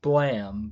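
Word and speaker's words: BLAME!: I think it's pronounced Blam, but it's spelled Blame with an exclamation point, which is like a sci-fi dungeon crawling thing in itself.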